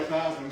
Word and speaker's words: Theismann: Changed his name to Joe Theismann because it rhymed with Heisman.